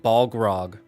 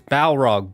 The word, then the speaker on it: Balrog: was he saying bog he kept saying like bog grog like he was saying the name wrong and I was like it's balog and I don't think he realized that he was saying it wrong until I was like see I don't want to say which friend till I was like friend this is like it's it's balrog b a l r